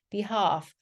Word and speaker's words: behalf: have, behalf. L 발음 여기서 묵음이라서 발음하지 않고요.